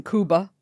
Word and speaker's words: Cuba: about little boy Oscar born in Kuba and that's also the correct way to say it correct thank you why do people say Cuba the same reason say nunz it's just easier if a white woman says Kuba doesn't that come off